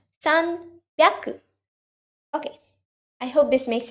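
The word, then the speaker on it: 三百: the p sound and in 300 there's a b sound sun pyaku okay i hope this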